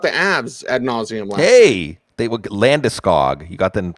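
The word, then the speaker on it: Landeskog: to talk about the abs ad nauseam hey landiskog you got the pronunciation that went down gabriel landiscog oh i got oh i got a story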